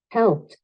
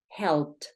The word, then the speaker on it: helped: Listo, cuando eso pasa, vamos a pronunciar como una T, un golpe de T fuerte. Entonces, helped, helped.